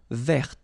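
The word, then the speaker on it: vert: So masculine form don't pronounce the final t feminine form ver. So listen carefully. I don't say t but it's t ver.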